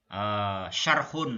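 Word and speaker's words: شَرْحٌ: Wa fi ma yali syarhun ya. Ini bacanya syarhun kan? Syarhun. Kenapa syarhun?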